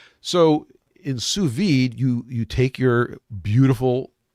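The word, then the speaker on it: sous vide: it's suid okay sue the word of the day is suid Sue s o u s v VI I i d e suid French so in suid you you take your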